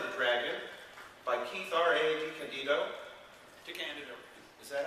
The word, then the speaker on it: DiCandido: DiCandido. Is that how you pronounce it?